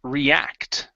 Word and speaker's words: react: our next word here is react the stress is on the end how to react to